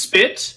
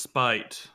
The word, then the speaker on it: Spite: you see let me his name is spit I'm doing all exaggerated motions and you guys can't even see me ah well actually it's pronounced spite spite spite why what